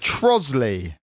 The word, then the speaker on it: Trottiscliffe: not that, is Troatscliffe. it? It's going to be like Troatscliffe or something. I bet it's like, I don't know. I can't even think of anything that's not that. Troatscliffe. Trosley.